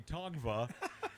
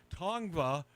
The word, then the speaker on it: Tongva: So the local The X is silent. the local tribe here in Southern California, known as the Tongva, has since claimed Eilish's mansion in Los Angeles is on their ancestral land.